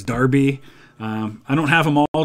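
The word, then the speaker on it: Derby: Buckingham and burning up I know that de RBY is Darby I don't have them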